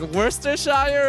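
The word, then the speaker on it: Worcestershire: what is that it it's officially spelled Worchester Shire sauce but that's not how it's pronounced it's like Worster Shire or something worst or Shire worse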